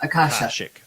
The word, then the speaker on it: Akashic: Is it Akashic or Akashic? How do you say? I'm sure I've been butchering years. I'm the king of butchering names, by the way. You had it right the first time.